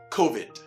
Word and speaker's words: COVID: from me so far, it is not COVID, but what? COVID. Again, not COVID, but COVID. I must, however, say that I can understand why many pronounce it COVID anyway, simply because I think they erroneously relate it to the word cough, which is a major symptom of the disease anyway.